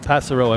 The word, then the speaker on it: Passero: What's the correct pronouncer? Passero. Passero.